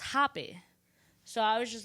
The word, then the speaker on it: rapé: It actually spelled like as if it was rape. But the E has like a it's, you know, like it's just with the squiggly line, like, but it's pronounced Rapé.